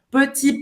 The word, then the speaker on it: petit: Você não vai pronunciar o segundo T no final da palavra.